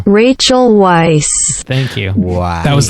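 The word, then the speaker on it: Rachel Weisz: had to look up rachel white's pronunciation which sounds like this rachel weiss thank you wow that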